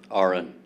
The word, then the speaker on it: Aron: Aron. Aron. How do I can, Aron is like it's spelled like Aaron, but pronounced like registered nurse.